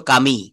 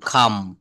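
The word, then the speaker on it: come: হইতো তো উচ্চারণটা আসতো কামি। কামি সি ও এমই। কিন্তু এখানে ই টা বলা যাবে না। এটা বলতে হবে সি ও এম খাম।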